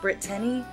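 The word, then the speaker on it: Britteny: So it's actually pronounced Brittany, which is kind of weird.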